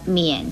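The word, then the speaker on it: 丏: 跟盖字很容易弄混的是这一个免字，免字的国语注音是摸言免三声免，免是不见的意思。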